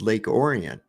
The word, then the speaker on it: Orion: where I lived called Lake Orion but it's pronounced Lake orian it's spelled exactly the same way and there's